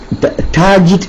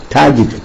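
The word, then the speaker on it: target: ഇത് ടാർജറ്റ് എന്നൊക്കെ പറയുമല്ലോ ടാഗിറ്റ് ടാഗിറ്റ് ആർ ഉച്ചാരണമല്ല ജി ന്റെ ശേഷം ഇ സൗണ്ട് ആണ് ടാഗിറ്റ് റൈറ്റ് ഇനി എഫ്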